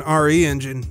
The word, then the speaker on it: RE Engine: built using capcom's own re engine and i guess it's pronounced re-engine because it's short for reach for the moon not resident evil like i thought the re-engine is based